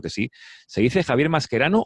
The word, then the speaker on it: Mascherano: javier mascherano o mascherano se dice mascherano porque obviamente soy argentino pero pero bueno es obviamente es un apellido derivado del italiano con raíces italianas y bueno si lo hacéis al tales masquerano digamos mis antepasados que